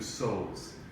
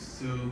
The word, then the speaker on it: sew: A seamstress is a job, a person who sews. Sew is actually spelled S-E-W. You would think it is Sue, but in the pronunciation wise it's sew.